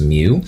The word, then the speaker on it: mu: etc micro gets a Greek symbol it's usually pronounced mu it's like a u with a long line to the left of it.